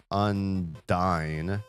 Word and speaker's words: Undyne: Toby Fox, the creator of Undertale, pronounces Unine as Undyne. This is the official and canonical pronunciation according to multiple sources including Reddit thread and the Undertale wiki.